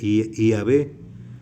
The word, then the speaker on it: Yahvé: esos pronunciaban nada más una forma breve, Yahvé, con I latina, no Y, sino con I latina, Yahvé, o a lo mejor también con la Y, con la I griega, pero pronunciándola como I latina, IAB.